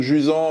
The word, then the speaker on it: Jusant: de Dontnod, le charmant Jusant. Ça se prononce à la française parce que c'est un terme français pour signifier...